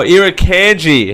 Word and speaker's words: Irukandji: The Irriginas. Sorry, what? How do you pronounce that? How do you pronounce that? Sorry, what did you just call me? Pro. How do you pronounce that? Oh, irukandji.